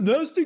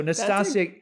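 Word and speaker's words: Nastassja: Be like, oh, yeah, Nasty Kinski. Yeah, he doesn't know her. He doesn't know how to say her name properly. He's been calling her that since 83. Anyway, so Nastasia.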